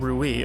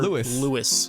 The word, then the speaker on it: Rui: On a real note, I'm glad we finally got the official pronunciation of Rui, because I can't believe we had people in 2025 still calling this character Louis.